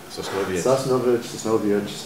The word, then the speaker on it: Sosnowiec: You first you're in how do I pronounce the name of the city that you go to? Sosnowiec, or Sosnow, if you want to be real Yiddish about it.